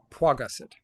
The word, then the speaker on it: Paget: me out pet pet which where's the W first or second syllable first Paget got it okay who are the